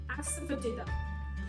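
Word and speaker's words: asafoetida: Spellings कुछ अलग हैं बट बोलने में है एसिफेटिडा.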